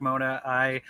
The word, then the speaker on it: Mona: Did I pronounce it anywhere close to the realm of right? Mona. Yeah, you got it right. Hi, Yes, everybody. sir. I'm Mona.